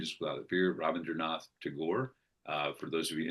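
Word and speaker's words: Tagore: where the mind is without appear Robin Dernath to Gore. Uh for those of you interested um it is spelled T A G O R E.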